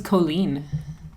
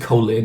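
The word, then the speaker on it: Kolin: I thought her name was Colleen. Yeah. I don't know. They pronounce it Colin in the game.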